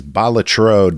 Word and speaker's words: Balatro: I think it's Balatro. Balatro, I believe. That's how I've heard it pronounced.